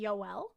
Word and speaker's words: Joel: J's are pronounced Y. Wow. So her name would be Yoel.